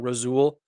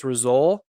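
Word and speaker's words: Rasul: having uh result douglas i think i've been saying his name wrong rosul i think it's resole um i'm not exactly sure i've heard a lot of people say both things but i'm gonna go with rizzol douglas signed it october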